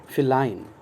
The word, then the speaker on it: feline: शब्द बहुत आसान है, लेकिन हम इसके एडजेक्टिव नहीं जानते, क्योंकि ये अनकॉमन सा एडजेक्टिव है, एंड it's pronunciation is feline, okay, feline, FELINE, cat, feline।